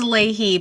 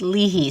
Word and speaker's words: Leahy: pronounce your last name the family says Ley but it's an Irish name and it should be pronounced Lehi so we pronounce it wrong you know too so